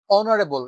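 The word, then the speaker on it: honorable: তাহলে এখানে এইচ, এইচ একটি কনসোনেন্ট, কিন্তু সেটা অনারেবল, এটার উচ্চারণে ও আসছে, যেটা একটা ও কি, ও একটি ভাওয়েল অ্যালফাবেট।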